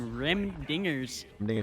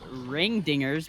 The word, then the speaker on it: Rim Dingers: now for some reason rim dingers yeah i want to say i i want to say ring dingers because you know it but it's it's rim and it screws me up